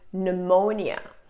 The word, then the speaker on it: pneumonia: say it pneumonia pneumonia I really don't understand why there are often P's in English words if they're not gonna be sad especially in the beginning but this is one of them so this word is pneumonia this is a lung